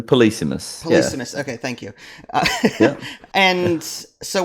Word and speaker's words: Polysemous: so first of all how do you pronounce this game is it polysemous yeah basically the policemeness okay thank you and